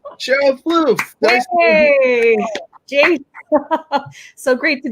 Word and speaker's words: Plouffe: pronouncing my last name give it a try fluff yes yes great work and i didn't ask her before we started listen i'm french canadian and so i don't expect people to have the french you know tone to to the pronunciation of my last name it's all good you